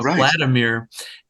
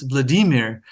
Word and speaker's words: Vladimir: with a lot of what Americans say you know Vladimir and I said you know think so and then I had no idea and he said well you know actually Landon it's Vladimir and I I looked